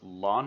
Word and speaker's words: ln: base e of x l n of x is also frequently pronounced lon of x so if you ever hear me say that i'm just referring to this base e logarithm one reason why the